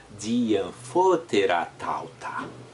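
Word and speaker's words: δι᾽ ἀμφότερα ταῦτα: Diamphoteratauta. É só isso. Diamphoteratauta. O que é diamphoteratauta? Diamphoteratauta. Pode pronunciar assim que está certíssimo. Diamphoteratauta. Esse anfótera você pode botar anfóteratauta.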